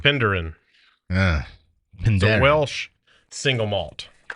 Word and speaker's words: Penderin: Well, you're going to have to let us know how how bad uh Heath or we all butchered butchered Pinderin. Penderin.